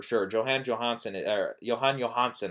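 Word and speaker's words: Jóhann Jóhannsson: johane johansson is there johann johannsson i believe is how you pronounce his name he he's just he's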